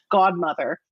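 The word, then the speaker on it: Gaudmother: They go by, and it's spelled Gaud, like gaudy, Godmother.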